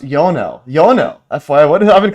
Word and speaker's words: Ionel: So these the parts where there's uh there's very little vibration and uh I I do want to this is actually pronounced Yonell.